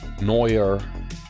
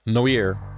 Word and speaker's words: Noir: not what it's spelled why is it pronounced so not what it spelled it's such a weird way to pronounce that word this game disc world no noer Terry pret's latest Adventure